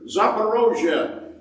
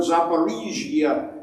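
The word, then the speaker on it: Zaporizhzhia: see in this picture zaparosia is how you pronounce this in russian or zaparisia in ukrainian and this is the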